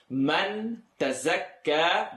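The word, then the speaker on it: تزكى: Man tazakka becomes man tazakka. Top and bottom teeth together for the letter za. This is not dhal.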